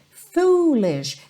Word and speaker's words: foolish: my foolish Lovers game foolish deixa esse ó bem compridinho tá porque são dois os dois os em inglês sempre tem esse som u como se fosse um túnel Comprido tá in my foolish